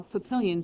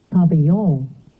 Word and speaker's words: papillon: And this is how papillon sounds. Papillon.